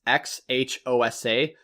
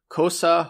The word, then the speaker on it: Xhosa: is actually an existing language it's like can't pronounce it it's X H OS a so cosa Xhosa and it is a South African language